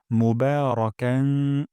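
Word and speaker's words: مُبَارَكًا: তাইবান তাইয়েবান তাইয়েবান তারপর মোবারকান বা এখানে এক আলিফ টেনে পড়বো মুবারাকান এবং এখানে একটু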